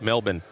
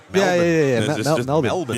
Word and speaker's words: Melbourne: and food and yeah, like this I love Melbourne like um there's lots to do and um you know Yeah, but I got to know it is Melbourne. All right. Melbourne.